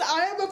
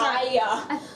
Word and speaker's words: IA: Aya. Oh, it's pronounced IA, whatever.